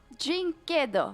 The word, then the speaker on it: dyNquedo: Is that correct pronunciation? dyNquedo. dyNquedo. Yeah, perfect, Okay.